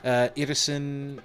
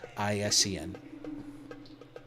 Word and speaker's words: Irrisen: Irrisen, it's spelled exactly how it sounds, Irrisen.